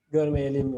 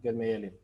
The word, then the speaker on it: Görmeyelim: Görmeyelim, la segunda. Görmeyelim. Gormeyelim. Ok, gracias. La pronunciación es Görmeyelim. Gormeyelim. Ok. No lo pronuncias con la acentuación en im. Görmeyelim. Yeah. Aquí el acento va aquí prácticamente aquí.